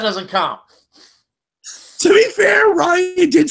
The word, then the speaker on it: Rian: I keep saying it's Rian Johnson because I've been told it's pronounced Ryan Johnson, so sorry.